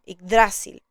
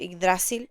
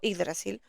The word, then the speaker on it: Yggdrasil: En esta versión está con el acento en dra, por eso me van a escuchar decir Yggdrasil, aunque a veces se me chispotea y digo Yggdrasil. En fin, pongan el acento donde más les guste.